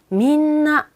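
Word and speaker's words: みんな: 자연스럽게 연결을 해보면요. 뒤에 나를 발음하기 위해서 당연히 제 입 모양 볼게요. 민나, 민나. 입 안 다물어지죠? 뒤에 나가 나오니까요. 당연히 나 이런 식으로 니은 받침처럼 돼요. 그래서 민나, 민나 이런 식으로 된다는 이야기가 쓰여져 있는 거고요.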